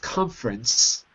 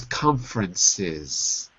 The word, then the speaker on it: conferences: Also, I heard organized conference rather than conferences. Don't forget about that last syllable. We organize conferences. Okay, so add the extra S at the end.